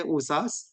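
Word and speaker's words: OHSAS: inspired by osas 1801 that's what they pronounce those letters they usas and it's it aimed to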